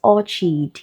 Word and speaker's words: orchid: If you pronounce o r c h i d as orchid, you will most likely feel this question, okay?